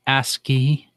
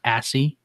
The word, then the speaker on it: ASCII: terminal Maps key yeah it's pronounced ascii not a see I like Cathy s